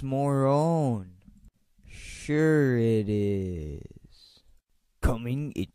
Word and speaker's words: Marone: Package for Mr. Moron. It's pronounced Morone.